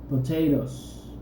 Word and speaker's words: potatoes: Potatoes, potatoes. ¿Okay? Se escribe con ES, pero se pronuncia como si nada más tuviera S.